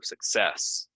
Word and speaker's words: success: job after the pandemic same thing here stress goes second syllable so success um yeah I've you